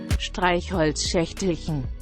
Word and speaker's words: Streichholzschächtelchen: Et comme j'ai fait de l'allemand et Elisa non, bah du coup seule Elisa va essayer de prononcer les mots que je vais choisir. Alors, le premier, Stretchholzerstellchen.